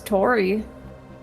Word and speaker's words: Tauri: It's always been pronounced as Tori.